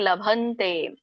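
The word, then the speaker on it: ಲಭನ್ತೇ: ಮಾತಾಜಿ ನೀವು ಒಂದು ಗಮನಿಸಿ ಇಲ್ಲಿ ಲಭಂತೆ ಅಂದ್ರೆ ಬ ಕೆ ಭವತ್ತು ಬರುತ್ತೆ ಅಲ್ವಾ ಇಲ್ಲಿ ದೊಡ್ಡ ಬ ಇದೆ ಅಷ್ಟೇ ಭಕ್ಕೆ ಬತ್ತಿಲ್ಲ ಹಾಗಾಗಿ ಲಭಂತೆ ಲಭಂತೆ ಲಭಂತೆ ಮತ್ತೆ ಯತಾತ್ಮನಹ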